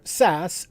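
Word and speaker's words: SaaS: with these three software as a service or sas s-a-a-s platform as a service or pass p-a-a-s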